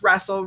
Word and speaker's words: wrestle: So the first letter is silent. So try to remember that. The W is silent.